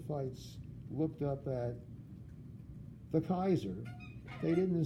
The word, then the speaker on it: Caesar: nice M so therefore the Romans didn't say Hail Caesar they said hail Kaiser and then the Germans